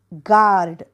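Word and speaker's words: guard: पुढचं बघूयात जी यु ए आर आर डी गार्ड म्हणजे चौकीदार आणि इथे सायलेंट लेटर यु पुढचं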